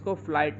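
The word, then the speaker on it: flight: word हो रहा है जैसे फ्लाइट फ्लाइट में जो घट है इस जी ह टी लास्ट में ग क्या है साइलेंट है और इसको फ्लाइट बोलते फ्लाइट सिमिलरली अगला वर्ड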